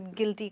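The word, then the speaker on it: guilty: तो आप कहेंगे आई फील वेरी गिल्टी। इस वर्ड में ऑफ कोर्स यू साइलेंट है, तो आप गिल्टी नहीं कहेंगे बट गिल्टी कहेंगे।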